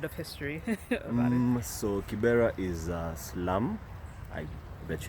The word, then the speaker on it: Kibera: Kibera, yes.